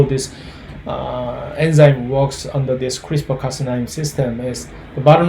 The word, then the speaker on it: CRISPR: the other organisms dna sequences it's called is pronounced as a crispr uh usually one cas9 is one of such